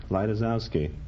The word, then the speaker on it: Lejtizouski: Originally it was spelled Lejtizouski. How did you pronounce it then? Lightisowski.